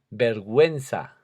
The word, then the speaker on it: vergüenza: Pero cuando le añadimos una diéresis, que ya vimos arriba, a esa U, estamos indicando que hay que pronunciarla, como ocurre en las siguientes palabras. Vergüenza. Ahí no decimos, si no tuviera la diéresis estaría mal porque diríamos vergüenza. Pingüino.